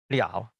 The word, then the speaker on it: 了: Contoh, 好了. Di sini, yang ini, 不得了. Le, liao. Tulisan kanji sama, tapi bunyi dan nada beda. Lalu, berlaku kaidah MD.